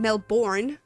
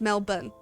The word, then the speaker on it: Melbourne: Also, Americans pronounce Melbourne Melbourne, while it's actually pronounced Melbourne.